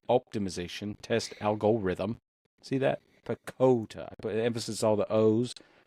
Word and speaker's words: PECOTA: this picata or picota how do you pronounce this p p it's picota picota I don't like that I like ricotta cheese that's where my brain went well it is widely accepted as pakota fine makes sense if